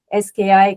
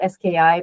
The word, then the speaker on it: SKI: an interpreter for the SKI combinator calculus. So it's usually pronounced SKI, but I pronounce it ski because it's more fun and it's shorter as well.